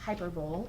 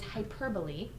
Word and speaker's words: hyperbole: device here is hyperbole not pronounced hyperb it is hyperbole and it is an